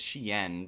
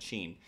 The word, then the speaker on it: Shein: I know like the realistic way of saying it is Shein, because that's like the original name, but everybody calls it Sheen.